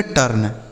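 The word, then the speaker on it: turn: टी यू आर एन इसे पढ़ेंगे टर्न, टी यू आर एन टर्न।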